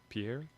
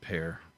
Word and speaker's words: Pierre: I think it's Pear. Pierre? They have metro area in Pear. South Dakota. Well, yeah, they're not French. Yeah, I think they pronounce it Pear.